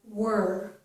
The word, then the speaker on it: were: So in that case, were does not rhyme with near or pier. We're hearing the news.